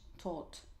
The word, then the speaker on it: taught: So the orange color, it is this GHT, yeah, this very interesting letter combinations which are actually not pronounced, because we say